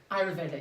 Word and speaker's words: Ayurvedic: Ayurvedic.